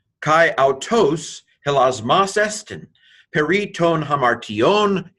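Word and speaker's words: ἁμαρτιῶν: Mu alpha rho tau iota omega nu, hamartion.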